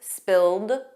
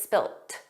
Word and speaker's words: spilt: that's spelled differently because it's spelled with a T and it's pronounced that way. So it's just the end. In American English, it's always spilled, a soft D, but in British English, it's spilt.